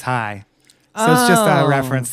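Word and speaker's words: Chai: that's pronounced shot o spelled CH AI but it's pronounced hi that's just a reference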